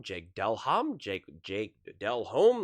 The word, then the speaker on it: Delhomme: Jake Delum, Jake Delhom, Jake Jake Delhomme, like you know like that's that's the difference.